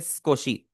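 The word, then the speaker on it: すこし: आवाज नहीं निकाल रहा मैं इसे सुकोशी नहीं बोल रहा सुकोशी नहीं बोल रहा मैं मैं बोल रहा हूं स्कोशी तो आप भी स्कोशी ही बोले जो बीच वाला उ है वो हमारा साइलेंट होगा ठीक है क्योंकि जो जैपनीज़ नेटिव्स होते हैं वो इसे प्रोनाउंस करेंगे स्कोशी वो इसे सुकोशी नहीं बोलेंगे नेक्स्ट है नॉट एट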